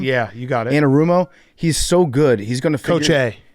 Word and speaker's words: Anarumo: you say his name yeah you got it anarumo he's so good he's going toig Co he's